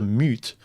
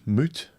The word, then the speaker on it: moot: to them as a mute it's mute mute moot how do you pronounce that moot's point I know it's a moot point but mute is someone who can't speak or won't anyway um yeah the